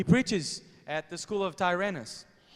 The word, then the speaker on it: Tyrannus: Tyrannus. He preaches at the school of Tyrannus.